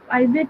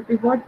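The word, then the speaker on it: pivot: cross tabulation को हम कहीं ना कहीं कॉन्टिजेंसी टेबल्स भी कहते हैं, और हम इसको पाइवट टेबल या पिवट टेबल, जो भी प्रोनाउंसिएशन आपकी रहती है, पाइवट टेबल के साथ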